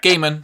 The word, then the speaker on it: Gaiman: Is it pronounced Gaiman or Gaiman? Yep, Gaiman.